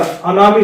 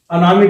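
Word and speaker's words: Tanami: पूर्व में याद कीजिएगा अनामी डेजर्ट देखिएगा आपको एटलस में टी से मिलेगा टी साइलेंट रहता है अनामी डेजर्ट और सिंपसन डेजर्ट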